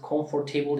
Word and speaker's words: comfortable: Comfortable diye yazılan comfortable sözcüğünün comfortable diye bir telaffuzu İngilizce'nin kabul gören hiçbir aksanında yok. Anlaşılabilirsin. Birisi comfortable dediğinde seni anlayabilir. Ama yani comfortable. Aradaki R de söylenmiyor.